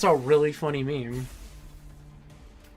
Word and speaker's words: meme: friend and he's like it's not pronounced mimes and I'm like what it's not it's not called mimes I thought it was mimes it's like MIM me twice and it's like no it's meme it's not it's not it's just